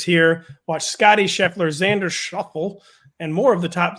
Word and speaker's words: Schauffele: Watch Scotty Scheffler, Xander Schauffele, and more of the top 30 golfers in the PGA Tour face off for the FedEx Cup this week.